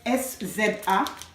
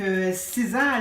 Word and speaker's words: SZA: En fait, SZA, ça se prononce S-Z-A. Donc, SZA, elle a été signée en 2017 ou 2016 par le label Top Dog Entertainment.